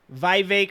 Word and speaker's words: Vivek: redox boy right here Vivek it rhymes with cake Vivek ramaswamy getting his ass